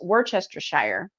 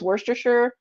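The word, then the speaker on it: Worcestershire: you don't know how to pronounce it it's pronounced Worchester Shire okay so there you go I just solved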